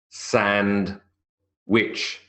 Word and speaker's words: sandwich: and which of course it's not wi TCH it's wi CH but nobody says I